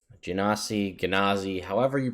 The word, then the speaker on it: genasi: I'm going to actually listen to how you're supposed to pronounce it from the pronunciation guide. Here we go. Genasi, says Matt Mercer.